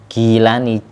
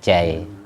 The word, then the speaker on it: Jailani: Tapi kalau ikut tulisan latin karena giilani jailani dibaca jailani ja jelas qarorinan fitolab.